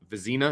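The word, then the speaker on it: Vizzina: you watched film of chris visna thoughts vizina is that how it's pronounced okay cool uh tom loy's opinion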